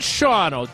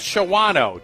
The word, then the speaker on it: Shawano: but is Shawno really Shawno or is it Shawano? Did I ask that last time? I think I did. It's pronounced it's Shawno.